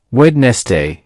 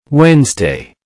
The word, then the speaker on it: Wednesday: If you pronounced it as Wednesday, you're not alone. The correct pronunciation is Wednesday. Wednesday. Let's break it down. Wednesday. That's 2 syllables. Notice the stress on the first syllable.